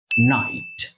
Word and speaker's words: knight: আরেকটা হচ্ছে NIGHT যার অর্থ হচ্ছে রাত, এটা আমরা সবাই জানি, কিন্তু এই দুইটারই উচ্চারণ কিন্তু নাইট, নাইট।